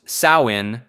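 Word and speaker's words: Samhain: Samhine, pronounced sawin, was a traditional harvest festival marking the end of summer and the beginning of winter in Celtic culture.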